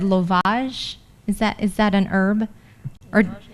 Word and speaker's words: Lovage: It's lovage.